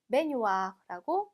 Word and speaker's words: baignoire: 자, 지금 보시면 gn 있어요. 그쵸? gn 있으면 우리 그는 읽는 게 아니라 어떻게 읽어요? 라자냐의 뉴처럼 읽게 되죠. 그래서 baignoire라고 읽어주시면 되겠습니다.